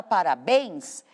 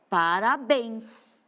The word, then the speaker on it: parabéns: A palavra parabéns, a minha sílaba mais forte é a última, ó, parabéns. Esse bens é forte.